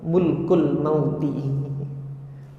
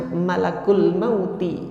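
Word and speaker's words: ملك الموت: beberapa kali dan berkali-kali saya dengar gitu loh imamnya membacanya qul yatawaakum mulkul mauti. Harusnya malakul mauti. Malak itu malaikat maut. Malaikat maut ini berkali-kali bacanya mulkul mauti, kerajaan kematian.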